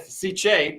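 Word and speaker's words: Sicce: It's a hard C. It's a Italian. Hey! With Ciche pump, which is controllable wirelessly through your apex right here.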